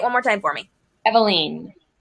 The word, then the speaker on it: Eveline: more time for me eveline as in the ground will story from Dubliners by James Joyce perfect okay i'm getting